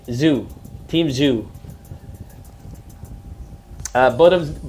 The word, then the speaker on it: Tszyu: two okay let's see I pick tank to pronounce like Zoo is Zoo okay why get some Goosebumps